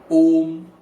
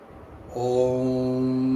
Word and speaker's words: Om: Aum is actually for the third eye, and you can pronounce over here as Om as well. So it's Om.